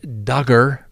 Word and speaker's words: Duggar: Next on the docket, Josh Duggar rhymes with hugger.